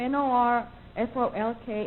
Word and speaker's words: Norfolk: Now, Virginia has a town that spells its name N-O-R-F-O-L-K, and they pronounce it, you know how?